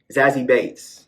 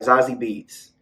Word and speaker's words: Zazie Beetz: First of all, Amber is played by Zazie Bates. That's not how you say her name. Zazie Beetz.